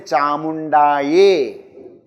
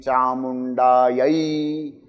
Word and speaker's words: Chamundaye: Many people say Chamundaye. Not ye, it is yai. I, okay? Chamundaye vicche. Om Aim Hrim Kleem Chamundaye vicche.